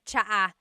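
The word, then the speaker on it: tsaa: And it's spelled T S A. Cha. Cha. That's such a Tagalog spelling. I love it. There's the TS sound and then the double vowel uh pronunciation.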